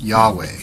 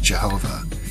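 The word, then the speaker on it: YHWH: name of the great architect of the universe pronounced Yahweh sometimes pronounced Jehovah in the ancient Hebrew language from which the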